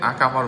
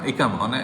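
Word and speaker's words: إقامة: তো যেটা যেটার জন্য হচ্ছে যে আকামার মেয়াদ। সরি আকামা। ইকামা ইকামাই হচ্ছে সম্ভবত সঠিক উচ্চারণ।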